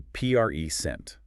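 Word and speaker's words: present: That's a PRE sent. Stress on the first syllable. It's a noun. Got it. PRE sent. But if you're going to give a speech, you pre-sent your ideas. The stress jumps to the second syllable, and now it's a verb.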